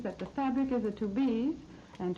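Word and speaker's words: Tubize: They're called to-be's chardonnized garments, which means that the fabric is a to-be's, and to-be's is spelled T-U-B-I-Z-E, rayon pre-tested for tailoring, washability, and wear.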